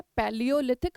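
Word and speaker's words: Palaeolithic: पैलियोलिथिक, आप इसको pronounce करिए मेरे साथ और याद भी हो जाएगा।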